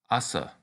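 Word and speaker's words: 朝: a Morning Star the medieval weapon this is pronounced Assa the next kanji is similar to the one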